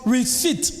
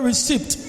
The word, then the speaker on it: receipt: receives a talent so it's pronounced receipt not received the last language ask